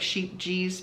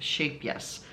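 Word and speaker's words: Scheepjes: except that it is shape yes yarn. Um which looks like sheep G's but Yoka who is Dutch actually told me it's pronounced shape yes.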